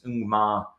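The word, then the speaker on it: Ngumoha: So we're talking about pronunciations. I watched a Chelsea TV commentary, and apparently that one's Ungmar.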